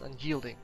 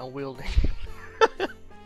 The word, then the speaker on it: unyielding: Remember how much it took me to learn how to pronounce unyielding? I used to pronounce it unwielding.